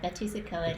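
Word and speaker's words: Betws-y-Coed: Yeah, Bettysacoed is how it's pronounced, but it's a hyphenated word.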